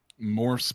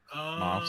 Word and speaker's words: Moths: I find that I keep saying his name wrong, by the way. What's that? Both of us keep saying his name wrong. And those Moths, actually. Moths. There's no R in there. We keep fucking it up. I'm just saying. Moths. I think it's Moths. I think it's the correct enunciation is Moths.